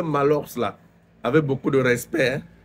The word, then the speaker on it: Maahlox: l'armé les gars qu'on parle de malos là prononcer malor là avec beaucoup de